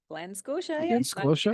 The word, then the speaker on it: Glen Scotia: So I just cracked the top of, and you have to help correct, the pronunciation here, babe. Glen Scotia. Glen Scotia. Glen Scotia.